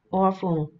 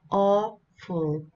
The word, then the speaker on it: awful: Awful, đó thì trọng âm đầu tiên chúng ta sẽ đọc mạnh hơn, rõ hơn. Awful.